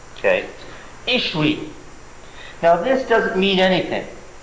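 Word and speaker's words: ישוי: Pronouncing this as a V is the product of Jews being in Germany for too long. Where the soft sounds, what happens to soft sounds in German? They harden, so that the W's in Hebrew came to be pronounced as V's in the Middle Ages.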